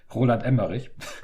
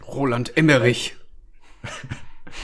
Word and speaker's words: Roland Emmerich: Why did I can just pronounce it German. Roland Emmerich. Roland Emmerich.